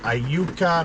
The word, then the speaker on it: Iuka: So today we're just waiting to load in I think it's pronounced Iuka, Mississippi.